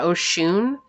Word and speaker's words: Oshun: This is Oshun. I think that's how you say that. If I'm saying it wrong, my apologies. Yeah, Oshun.